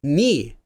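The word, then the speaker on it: 네: This gets pronounced as ni just like the the famous knights who say ni.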